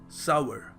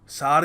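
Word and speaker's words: sour: इसको प्रोनाउंस करने का सही तरीका क्या है सावर सावर और हम क्या कह देते हैं हम बहुत कुछ कह देते हैं जज बातों में आके हम सार कह देते हैं हम सौर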